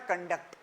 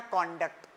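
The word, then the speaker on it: conduct: में हो लेबोरेटरी लबरेट इसका प्रोनंसिएशन इस वर्ड की ग्रामर पर डिपेंड करता है जब यह वर्ब होता है वर्ब तो होता है कंडक्ट जब य नाउन होता है तो होता है कंडक्ट ही कंडक्ट हिमसेल्फ वेल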